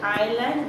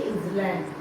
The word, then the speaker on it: island: Now see, hill, country, island. S is silent, say island, don't say island.